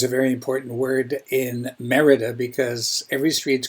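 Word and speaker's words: Mérida: I repeat the name because I used to pronounce it as merita it's not merid it's Merida why Merida in the Yucatan because it's considered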